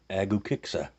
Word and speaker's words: Agukexsa: Now I did Google this, and it's Google says that you pronounce this Agukexsa.